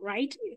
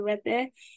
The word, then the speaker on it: Rethe: It's not right, even though some people pronounce it as right. It's called Rethe. Rethe is a word from my mother's language, Oroko, and it means right.